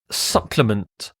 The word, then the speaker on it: supplement: the next word is supplement supplement this e sounds like supplement supplement is very very short a supplement is something